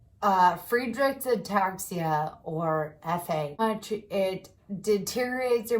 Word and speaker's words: Friedreich's ataxia: genetic neuromuscular disease called Friedreich's ataxia. And it sounds like free drinks and taxi rides. So think of that if you want to remember how to say it. Friedreich's ataxia, or FA.